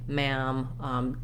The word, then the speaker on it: ma'am: it's written this way we just say ma'am just the same as a word like ham or scam with the a vowel